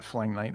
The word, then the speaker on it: phalangite: And it's 560 gold per, whatever you just called that, phalangite or phalangite.